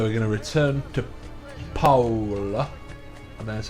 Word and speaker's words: Paola: more storyline so we're going to return to paola and that's how you pronounce it and hopefully we'll get to see